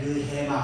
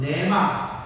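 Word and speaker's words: ῥῆμα: 이 내 말 원문에 느헤마 해보세요. 느헤마. 한국말로는 내마. 원 발음은 느헤마예요.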